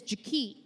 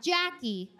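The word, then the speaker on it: Ja'Kee': you've probably seen her her name is Ja not Jackie ja it's spelled j a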